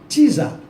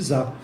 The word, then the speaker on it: czar: de interessância dos czaristas, czar, a gente fala que czar, né? Mas tem um Tzinho aí ali na pronúncia de czar.